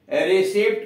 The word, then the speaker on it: receipt: में, DEBT हो गया, लेकिन उच्चारण डेट ही रह गया। और वही बात डाउट का DUBT लिखा गया, रिसिप्ट का RECEIPT। मौलिक शब्द लैटिन का क्या रहा, मौलिक शब्द लैटिन का डेबिटम था और रिसिप्टम था। अब उससे बाद में जब मूल शब्द देखा गया, इसका भी डाउट में जोड़ दिया गया और इसका भी रिसिप्ट में जोड़ दिया गया, लेकिन उच्चारण पहले वाला ही छोड़ दिया गया।